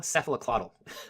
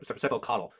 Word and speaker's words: cephalocaudal: Kids learn proximodistal, cephaloclaudal. Cephalocaudal. That's the right way to say that.